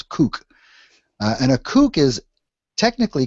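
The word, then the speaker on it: CUC: Cuban convertible peso or see you see which we pronounce kook and a kook is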